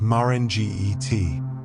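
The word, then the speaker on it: magiti: The magetai pronounced marge t is the traditional Fijian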